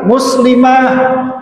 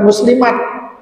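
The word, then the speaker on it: مسلمة: Ya, harusnya adalah muslimah, muslimah bukan muslimat. Ya, jadi kan gitu nanti.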